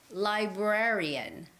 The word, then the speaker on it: librarian: you see the difference library has the first syllable stress library and librarian librarian has the second syllable stress librarian librarian the syllabus the stress goes on the syllable raa okay librarian okay all right